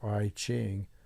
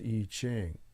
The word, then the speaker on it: I Ching: is some people call it it's not really I Ching although it's spelled with an i I space CH ing eaching or arching the correct pronunciation is eaching and the e Ching is an ancient Oracle